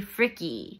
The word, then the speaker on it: Frick: The correct way to pronounce Frick is actually Fricky.